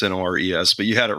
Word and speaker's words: Nores: It's Norris like Uncle Chuck, but the other spelling. Yeah, instead of Norris, it's Nores.